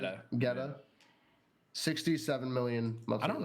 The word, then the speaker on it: Guetta: I think it's Getta. Look up how you pronounce it. How do I? David. It's I've always heard people G-U-E. say David Guetta.